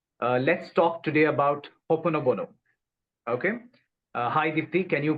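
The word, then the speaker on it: Ho'oponopono: Honopono.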